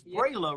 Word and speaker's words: Brayla: It's Brayla, right?